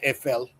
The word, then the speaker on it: Eiffel: It's pronounced EFL.